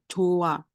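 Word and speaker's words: 좋아: Bukan bukan Joh, bukan Joh A gitu bukan, tapi cuma Joa. Itu nggak ada H-nya. Jadi silent H.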